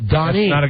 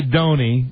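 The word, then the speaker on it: Doni: No, Donnie.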